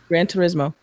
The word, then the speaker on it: Gran Turismo: Gran Turismo.